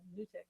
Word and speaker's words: NuTyX: So because it's NUTYX. So I thought Nudie or Nutty X. uh, But Well, yeah, it's not but long U. I think it's it's Nutix.